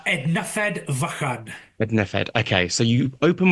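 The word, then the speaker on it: Ednyfed Fychan: How is how should it be pronounced correctly? Uh, Ednafed Vakad.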